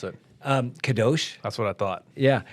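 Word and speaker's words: קדוש: How do you pronounce it? Kadosh.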